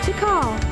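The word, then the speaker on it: Tikal: don't think we've ever met before before I'm T call and you are oh good so I pronounced her name right T call okay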